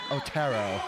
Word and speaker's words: Otero: But he told me the Spanish pronunciation is Otero.